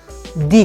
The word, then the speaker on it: the: जब उस THE के बाद आने वाला वर्ड वोवेल से स्टार्ट होगा तो हम THE का उच्चारण दी करेंगे।